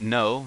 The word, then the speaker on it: の: this story personally so pronounced as you see it no that's no as in to know something Rhino no as in